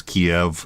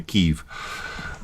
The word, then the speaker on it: Kyiv: I learned it as Kiev, and it's still very difficult for me to go back and pronounce it the Ukrainian way, Kyiv. And actually, it's not the difference is much smaller even than it sounds to the American ear, because you can say in such a way, oh dear Lord, Kiev, yeah, there you go, Kiev. Yeah, if you pronounce the y properly, it's almost indistinguishable to an American ear.